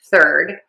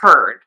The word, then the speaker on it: third: The mistake that I hear is people say turd. And what is turd? A turd is a piece of poop. Yes, that is a turd. Um, young boys especially like that word and they think it's funny and they'll call people that. Um, so we want to say third instead.